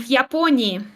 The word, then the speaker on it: Японии: Япония в Японии.